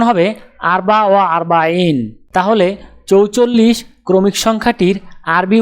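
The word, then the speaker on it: أربعة وأربعون: উচ্চারণ হবে আরবা ওয়া আরবাইন। তাহলে 44 ক্রমিক সংখ্যাটির আরবি উচ্চারণ হবে আরবা ওয়া আরবাইন।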